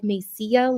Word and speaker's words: Mesilla: old lady said, honey, there's two L's at the end, so it's like Mesilla, like tortilla. I Yeah. had zero. Double L's to pronounce like a Y.